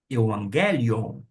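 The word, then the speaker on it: εὐαγγέλιον: Todas as vezes que tiver dois G, ou um G seguido do outro, este primeiro vai ter um som de N.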